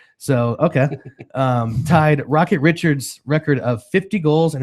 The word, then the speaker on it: Richard: Oh, I think I put the wrong emphasis on the wrong syllable there. So, okay. Tied Rocket Richards' record of 50 goals in his first 50 games of the season.